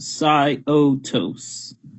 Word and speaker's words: Syotos: okay then so it is confirmed it is pronounced sigh otos it blasts holes that all right we have